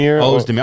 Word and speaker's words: Ozdemir: Volkan Ozdemir. How do you say his name? Ozdemir.